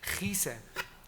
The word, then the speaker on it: Kiesen: En él, el topónimo mayor grafiado Kiesen, con K, se respeta a pesar de que en el uso local real se pronuncia Gise, puesto que es esta